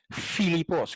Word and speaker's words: Filipos: Aquí está el nombre Pilipos, pero en vez de decir Pilipos dice Filipos con F. O sea, la misma letra, pero que se pronuncia F aquí como F.